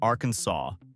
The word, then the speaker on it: Arkansas: It must be pronounced Arkansas, with the final S silent.